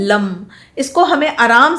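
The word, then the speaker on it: लं: इसका प्रोनाउंसिएशन है lump. English में इसको बोलते हैं LUM।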